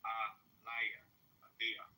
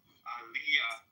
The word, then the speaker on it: Elijah: It's not pronounced like it's pronounced Aliyah. Aliyah. That's how you pronounce the light. The J is pronounced yeah.